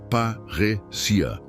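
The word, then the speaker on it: παρρησία: Parésia se pronuncia parrecia.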